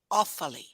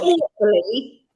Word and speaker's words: Offaly: Or Offaly? Offaly. Offaly. Not awfully. Offaly. Offaly. Yeah. It sounds French then.